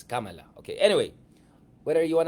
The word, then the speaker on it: Kamala: By the way, it's Kamala. Okay? Yung mga nagmamaganda dyan, oh, Richard, you have to pronounce it well. Tapos sabi niya, guys, I just talked to my friends from, who know the language, it's Kamala.